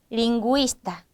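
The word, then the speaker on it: lingüista: 점 두 개가 의미하는 것은 발음을 원래대로 두 개로 쪼개라 거예요 원래대로 9의 구이 이렇게 읽어 주라는 겁니다 9의 구이 이렇게요 그래서 빙구 이노 빙구 이노 링구 이스타 링구스 이렇게 읽어 주라는 표시가 되는 겁니다 하지만이 마지막 4번의 예외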